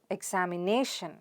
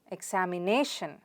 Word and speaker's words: examination: on the nerve sound so how do you pronounce it examination examination stress on the nerve sound there repeat it